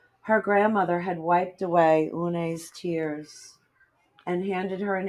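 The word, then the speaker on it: Unhei: "It's spelled U-N-H-E-I. It's pronounced Une." "Oh, " the boy said.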